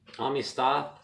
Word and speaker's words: amistad: to me but um ami stoth that's how you pronounce it in spain i'm not it's a spanish word amistad i think you guys